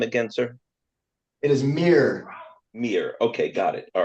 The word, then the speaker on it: Mier: matter Meer m r is that correct Mir yes pardon me I've been calling you Meer all along and we have M Mr langager